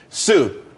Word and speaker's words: TSU: Sue, TSU. It's pronounced Sue though.